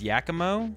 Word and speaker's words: Giacomo: It's Yakimo. Like whack-a-mole. Giacomo.